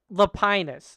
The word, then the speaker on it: Lapinus: okay, I got corrected in the chat. It's Lapinus, so we can try and get it right.